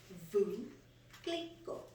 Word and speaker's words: Veuve Clicquot: And the Google says it's Veuve Clicquot. So I was like, oh, because nobody knew how to pronounce it.